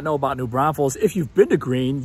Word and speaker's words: New Braunfels: So it is not New Braunfels. We're not in the Olympics. We're not getting bronze medals here. It's New Braunfels.